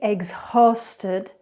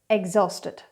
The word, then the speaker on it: exhausted: Other words with silent H's are exhausted. So incorrectly, exhausted. Correctly, exhausted.